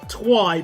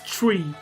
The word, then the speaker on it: Twi: Oh, it's Chui. Oh. Oh. I apologize. I am so sorry. I thought, well, this is what happens with how I read words. I just read them as they are. So I just think Twi, but it's tree.